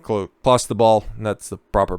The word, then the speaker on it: Clostebol: All I knew is that it's like Clostebol, and that's the proper pronunciation, is an anabolic steroid.